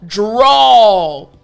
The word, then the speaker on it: drawl: So, drawl. You can tell at the end there's this aw sound, right? So, I want to emphasize the AW portion of the word, aw.